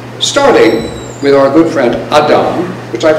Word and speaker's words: Adam: expulsion from Eden starting with our good friend Adam which I pronounce that way because that's the what you